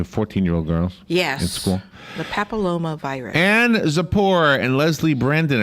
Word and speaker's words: papillomavirus: Papillomavirus.